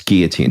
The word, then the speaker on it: guillotine: and you're starting to get disoriented we don't pronounce the ellen it's guillotine isn't your mom a french speaker you also